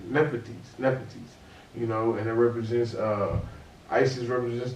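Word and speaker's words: Nephthys: Nepetes.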